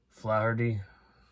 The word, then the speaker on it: Flaherty: This is Going Berserk with Eugene Levy and Joe, I was pronounced this dude's last name wrong, Flaherty.